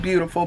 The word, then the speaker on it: buitifuil: website is not beautiful it's pronounced beautiful but it's not spelt like beautiful so yeah okay good